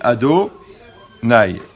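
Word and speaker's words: אֲדֹנָי: lit donc on prononce quand on voit le nom de la chaîne on dit ado nay d'accord il dit ça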